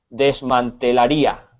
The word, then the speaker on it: desmantelaría: desmantelaría, con acento en la I. Desmantelaría. Ok, Sí, si te fijas en la I lleva una tilde y es donde recae la entonación, el acento de la palabra.